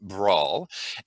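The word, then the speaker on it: Branles: The fourth movement, sorry, is it looks like Bransels, but it's actually pronounced brawl, and it is a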